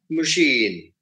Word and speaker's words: machine: it becomes leader or machine now in in the word machine moi is a syllable so there the second syllable gets the uh accent